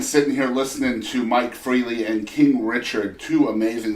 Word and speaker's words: Freiley: It's pronounced freely like the adverb, but it's not spelled that way. Freiley.